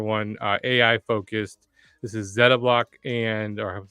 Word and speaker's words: Zettablock: This is Zettablock or I'm saying that right, Zeta will ask them.